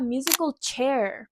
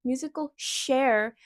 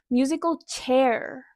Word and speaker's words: musical chair: Se refiere a musical chair. La CH en inglés se pronuncia ch, es un sonido fuerte, no es musical share, musical chair.